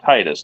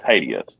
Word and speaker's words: Titus: It is, and if you're going to pronounce it right with the Titus, you need to pronounce it with Titus, not Titius.